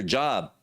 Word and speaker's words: Job: The same thing with job. You go to your job. Job is pronounced what? The correct pronunciation is Job.